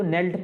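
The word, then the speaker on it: knelt: उसी तरीके से इसमें भी जो साइलेंट लेटर है वो के है, इसको नेल्ट पढ़ते हैं।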